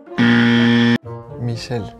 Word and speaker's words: Michel: Michel. Michel. Sin la T. No hay T. Michel. Yo dije Michel. Ajá. Sin la en México Michelle.